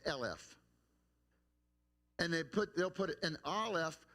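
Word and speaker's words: אלף: It goes back to Aleph, but it's pronounced Elef.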